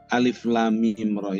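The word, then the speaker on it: المر: Alif, Lam, Mim, Ra. Nah, cara membacanya seperti itu. Jangan nanti cara membacanya dibaca alamar. Nah, itu membacanya yang salah. Yang benar cara membacanya alif, lam, mim, ra.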